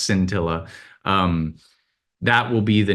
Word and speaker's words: Scintilla: they're calling it cintilla I don't know if it's skin I hope it's not pronounced skin Tilla I think it's pronounced scintilla um that will be